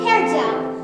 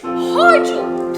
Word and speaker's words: Hargel: I present to you Prince Hairgel. It's pronounced Prince Hargel. Please get it right.